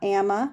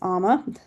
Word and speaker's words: Ama: And it's pronounced amma, not amma. It's amma because that means love.